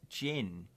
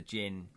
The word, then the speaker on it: djinn: It's just got a silent D.